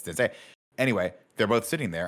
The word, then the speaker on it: Zendaya: was Timothée Chalamet and Zendaya. That was the same article, right? Where we're like, oh, that's not how you say it. It's Zendaya.